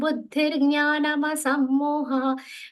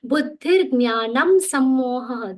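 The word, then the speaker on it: बुद्धिर्ज्ञानमसम्मोहः: This is one of the common errors of the pronouncing this way. What is the mistake here? See, buddhir jnanam sammoha. I am pronouncing more completely. This is how it should be pronounced.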